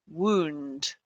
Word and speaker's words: wound: home guys wound okay wound it's a long vowel sound wound right and now